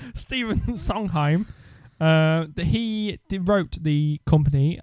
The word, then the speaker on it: Sondheim: Cole Porter Arthur Laurents or Stephen how we pronouncing that Sondheim its Sondheim husband Chinese song time Jerome Rockne Cole Porter